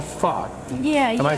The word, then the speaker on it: pho: This is called pho. Yeah. Am I saying it right? It is pho. Okay. Yeah, pho.